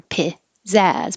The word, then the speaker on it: pizza: can say pizzazz or pizzazz, but have stress on the second syllable. Pizzazz. The young actress has a lot of pizzazz. Pizza. Now this is the Z's sound like a T and an S.